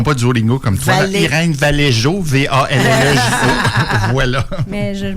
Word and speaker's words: Irene Vallejo: Alors, c'est Irene Vallejo. Oui, non? Irene Vallejo. Étincelle d'humanité. Tu sais, pour ceux-là qui ne font pas du Duolingo comme toi, Irene Vallejo, V-A-L-L-E-J-O.